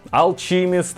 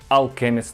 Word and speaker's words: Alchemist: Як його тільки не називали: Алчіміст, Алхіміс, Алшеміст, але читається правильно Alchemist blend.